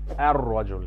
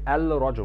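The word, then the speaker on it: الرجل: Rajul with a definite article is ar-rajul, ar-rajul. We've skipped pronouncing the lam or the L sound in ar-rajul. We did not say al-rajul, we said ar-rajul.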